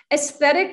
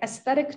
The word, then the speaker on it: aesthetic: the way they put an outfit together okay aesthetic is one of these words that's very unusual